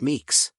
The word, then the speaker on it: MCU: Samsung they're also called microcontrollers or mcus pronounced Meeks these devices have been